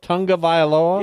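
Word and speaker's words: Tagovailoa: it tago vioa cuz it's not it's Tonga Tonga vioa yeah tu n g when his name is spelled t AO tongue of AOA well make it make sense different letters are pronounced different ways in different dialects he's agreed to a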